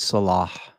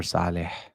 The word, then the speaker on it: Saleh: Robert Salah or Saleh. I am from Syria. He's from Lebanon, so I can pronounce his name correctly.